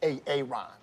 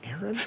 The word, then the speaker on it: Aaron: you say it the first time i said ay-ay-ron because it's pronounced Aaron you done messed up ay-ay ron now take